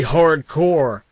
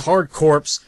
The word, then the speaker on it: Hard Corps: do something that's totally hardcore, which just happens to be Contra Hardcore. Also, the next person I hear that pronounces this as Hardcorpse, which 90% of those